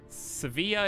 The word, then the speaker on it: Sevilla: else bro can you sevilla is the spanish pronunciation seville is english ah i got you so both i would say seville then pronunciations just change depending on who's saying it that's all that matters